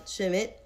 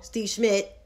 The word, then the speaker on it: Schmidt: why she got that smoke for steve um shimmit i keep messing up his name wrong steve schmidt there we go steve schmidt z smith don't